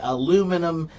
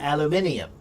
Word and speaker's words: aluminium: For example, like the word aluminum in in American English we say aluminum but in British English they have another I in the word and it's pronounced alum aluminium.